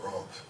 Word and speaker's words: RUMP: They call it RUMP. And at this time, the name Lake Worth 2020 wasn't created, but it was, I pronounce it, it's like rum with a P for you pirates.